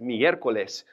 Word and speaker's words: miércoles: what that accent is that's where you stress at miércoles and miércoles was the day honoring